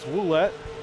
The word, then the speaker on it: Ouellette: I guess it's Ouellette. Alex Marinelli told me it was Ouellette, so I've been saying it wrong this whole time, but that's okay.